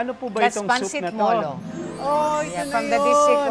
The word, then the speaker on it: Molo: they were Chinese they could not of course pronounce R. And Molo would also mean port. Marvin ano pangalan lugar niyo? Ahy ito po Moro. Ah Moro.